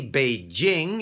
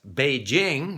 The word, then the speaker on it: Beijing: number of people who want to pronounce beijing which is correct as beijing okay not to mention the